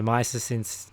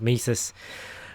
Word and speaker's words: Mises: and I I read the articles from the mice 'since Institute as well I don't have you pronounced at Mises but you know he says yeah that stuff